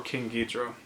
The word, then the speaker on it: Ghidorah: called King Ghidorah or King guitro as it's pronounced in Japanese King Ghidorah is this